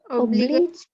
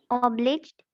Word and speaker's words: obliged: Obligate. Try again. Obliged. Okay, remember I shared earlier the ending E makes the I say its own name.